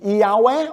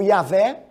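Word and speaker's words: Yahweh: está no fato de yaweh o yaveh depende do sotaque da onde você está pronunciando também elorrim o elohim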